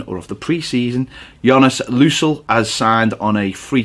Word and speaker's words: Lössl: I think that's how you pronounce it. I went onto the Huddersfield YouTube videos to see how they pronounced it, and it was Jonas Lössl. So I'm sticking with that, Lössl.